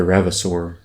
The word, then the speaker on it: Ravasaur: say it like that the ravasaur rivasar yeah it's like dinosaur dinosaur i don't know anyway